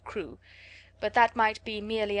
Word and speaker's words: Crewe: Madame Pascal pronounced it as if it were Karu instead of crew.